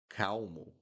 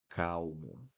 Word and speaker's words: calmo: Calmo. Pay attention to the pronunciation here, guys. The L in the middle of the word. Calmo. Calmo. Calmo. So the L will sound like ooh.